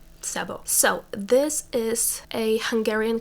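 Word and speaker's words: Szabó: door by Magda Sabo my instinct is to pronounce it as shabo but that's how it would be pronounced in Polish and I think in Hungarian it's supposed to be Sabo so this is a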